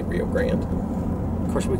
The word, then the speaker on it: Rio Grande: There's a debate on how to say it. I think we're supposed to say it the way that they say it, which is Rio Grande, but we say Rio Grande.